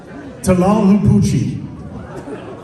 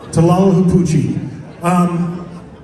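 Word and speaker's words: Tlahuelpuchi: We'll start with our first one, and this is, I'll give anybody a penny if you can pronounce it. Anybody? Tlalhupuchi. Tlalhupuchi.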